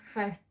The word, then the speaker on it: chet: Without it, it becomes chet, sounds as khah.